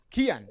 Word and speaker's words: Cian: Is it Cian or Kian? Kian.